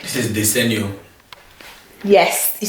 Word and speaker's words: Desenio: This is Desenio. Yes, you said it right the first time. Oh, Desenio, yeah.